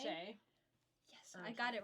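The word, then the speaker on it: Shea: Okay, so A Wilderness of Stars by How do you even pronounce that? Shay? Shay.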